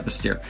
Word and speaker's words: Bastyr: I'm pronouncing that right? Bastier this time? Bastier. Right. Yeah. Bastier.